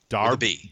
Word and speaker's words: Derbyshire: was horrible so you how to properly event pronouncing properly it's da da da see the beer with a V Darby Darby sure did Derbyshire England welcome man I